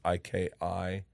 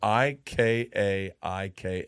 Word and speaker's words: Ikaika: It's Ika. No, it's Ika maybe. Ikaika is how you say it.